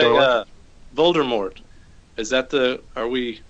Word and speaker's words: Voldemort: Is that the official pronunciation with the T? Going hard T. Voldemort. There was a hiss. There's no R. It's like Voldemort. Yes. Voldemort. So the movies, why do they pronounce it Voldemort? Don't they pronounce without the T? Technically, it is I think you get both, don't you? Yeah, depends how French you feel.